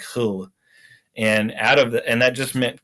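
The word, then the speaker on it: Hölle: But in German, it's H-O with an umlaut, the two dots over the O, and then L-L-E. So it's more like Hull.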